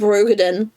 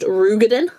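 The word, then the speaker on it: Roegadyn: Oh, speaking of roadin, can I make you all really upset for a minute? Uh, something something. It's actually pronounced rugin.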